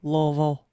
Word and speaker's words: Louisville: how it just makes everyone go Louisville I love it it's almost like one cell it's almost like one syllable it's beautiful sounding I